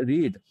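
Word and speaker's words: read: लेकिन इसका जब हम इसको प्रोनाउंस करेंगे, जब इसका हम उच्चारण करेंगे, तो हम जो फर्स्ट फॉर्म है उसको बोलेंगे रीड, और सेकंड और थर्ड फॉर्म को हम पढ़ते हैं रेड।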